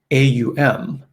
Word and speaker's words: aum: about this is that it is often described as the four part sound or the four-syllable sound so it's like aum right so those are the three and then the fourth syllable right is the silence that underpins it right it's the silence that begins before you make the sound and the silence that ends at the end of the last syllable and um and that's